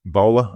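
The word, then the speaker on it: Boele: I mean, counting is continuing, but Nicolette, the Teal candidate, Nicolette Boel, I think that's pronunciation is B-O-E-L-E. Bowler, I think it is. Bowler, okay.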